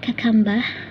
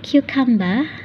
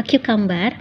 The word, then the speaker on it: cucumber: Jadi gak ada yang namanya cucumber, gak ada yang bilang kakamba pakainya aksen British tapi pronunciation-nya salah ya, jangan gitu. Harusnya cucumber ya, atau cucumber.